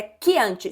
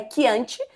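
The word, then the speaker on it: Chianti: É quiante. Se escreve chiante. No caso, a pronúncia correta é quiante, porque é italiano.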